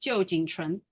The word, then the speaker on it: Jo Chen: Is pronounced Jo Chen.